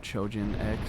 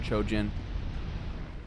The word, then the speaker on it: Chojin: I was probably just messing with those guys and talking about Chojan X or or as the proper way to pronounce it, Chojin.